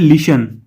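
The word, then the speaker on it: listen: और लास्ट में है लिशन। तो इसमें टी साइलेंट है। टी की आवाज नहीं आई है।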